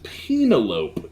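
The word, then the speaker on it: Penélope: far as favorites go i don't mean to correct you on the pronunciation but i believe it is penelope cruz actually you made me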